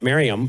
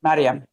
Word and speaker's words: Maryam: pronouncing that correctly but Maryam Maryam for sure m a r y Mary and then a m Maryam All right that's how you guys say it.